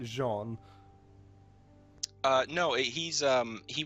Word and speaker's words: Jean: it's not the big character um his name is spelled Jean but it's like Jean uh no he's um he was uh he